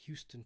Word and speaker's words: Huston: John Huston is pronounced Houston, Texas, like Houston, Texas.